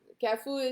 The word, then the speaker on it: Carrefour: Cafu is spelled as Carrefour.